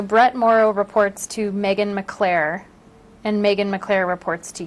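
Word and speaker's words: McClaire: director who is the chief deputy director Megan McClure Megan McClair McClair how do you spell that Megan is m-e-g-a-n mcclar is MC capital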